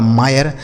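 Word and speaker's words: mire: एम आई आर ई यह लिखा गया दोस्तों आपका मायर।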